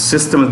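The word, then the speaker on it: Dassault Systèmes: It's not systems, it's systems, the French spelling, French name. Dassault Systems Foundation, that's how they pronounce it, to jointly work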